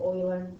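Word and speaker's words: Euler: no no okay and I've been saying it wrong it's Oiler I do that all the time it's Oiler Oiler is nothing I like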